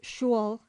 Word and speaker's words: school: boy home from school n be vulgarly pronounced shul in the west of England puddings and mistletoe and